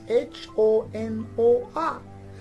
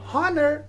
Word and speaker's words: honor: the other hand we have a word which is spelled as h-o-n-o-r so in honor we don't pronounce we say honor not honor that is honor another pair of words we